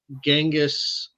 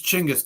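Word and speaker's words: Chinggis: I hear Gangis. I hear Jenis. I hear Chingis. What is the proper pronunciation? It's Chingis, damn it.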